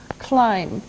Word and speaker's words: climb: first verb in climb climb now it doesn't sound like it looks now if this letter B is silent climb okay we climb a